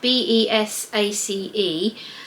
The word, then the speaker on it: Besace: It's actually spelt B-E-S-A-C-E, so up until now I've always pronounced it South Bank Besace or Besace, but obviously it should be pronounced Besace.